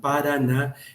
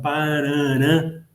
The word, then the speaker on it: Paraná: Pero como ese sonido que tiene que ver con cierta guturalidad y nasalidad, paraná, era difícil para el español, el español es abierto, entonces pronunciaba Paraná, y ahí quedó el sonido y ahí la denominación de la actual denominación del río, que es Paraná, que no tiene otra